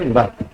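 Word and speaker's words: were: बहुत सारे लोग इसको वेयर प्रोनाउंसिएट करते हैं, आप इसको वेयर प्रोनाउंसिएट नहीं करेंगे, इसका सही प्रोनाउंसिएशन है वर।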